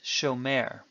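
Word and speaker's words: שומר: on the last syllable so show mare in Hebrew it would sound very funny to say show mare instead it is show mare when a Hebrew word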